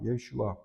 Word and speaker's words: 예슈아: 여러분들 예수라는 말 히브리어로 예슈아입니다. 예슈아.